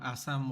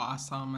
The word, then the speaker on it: Assam: looking forward to going to Assam once and uh or Assam as they pronounce it sorry that's how they pronounce it uh looking forward to